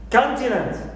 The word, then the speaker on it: continent: stress I have also the word continent continent so here canant n ends with a vowel plus more than one consonant which are and but nevertheless I stick to the main Rule and I stress the first syllable can also substitute right